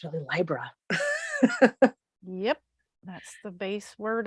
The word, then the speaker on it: Libra: we really broke down the correct correct pronunciation of Libra it would be Libra like a library or a librarian so I was like